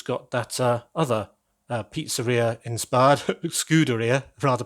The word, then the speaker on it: Scuderia: that other pizzeria inspired, Scuderia, rather pronounced, Ferrari sign. I have to say pizzeria before I can say Scuderia, otherwise I just try and mangle it again.